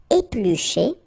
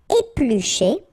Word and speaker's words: éplucher: Éplucher. Battre. Faire mijoter. Pocher. griller. Okay, so let's see them one more time. Éplucher. Okay, remember when we've got this CH, the sound is sh.